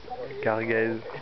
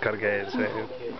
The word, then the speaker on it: Cargèse: With my awful pronunciation of Oh, this is not really French. It's a French-Italian thing. So Cargèse, Cargèse, or whatever.